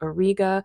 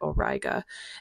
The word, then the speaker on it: Auriga: But over here you have Auriga, or some people pronounce it Auriga, and this star right here is known as Capella.